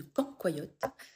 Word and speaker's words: cancoillotte: Donc maintenant, si vous faites une vidéo sur la dégustation de quand, quoi, yotte, a priori, plus trop d'excuses pour bien le prononcer.